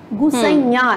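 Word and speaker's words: गुसैयाँ: खेलन में को काको गुसैया, काको गुसैया, गुसैया जब आप बोलें तो अनुस्वार चंद्रबिंदी का ख्याल रखें।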